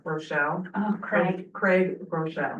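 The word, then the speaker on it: Groeschel: really is um I want to get his name wrong Rochelle oh Craig Craig Rochelle right yes so um he's powerful too and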